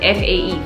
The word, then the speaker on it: Fae: That's how you pronounce it, F-A-E, Fae, right?